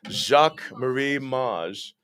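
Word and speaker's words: Jacques Marie Mage: and i've chosen the jacket i'm going to pronounce it all wrong again emma will you help me jacques marie maj and so that's would be this pair of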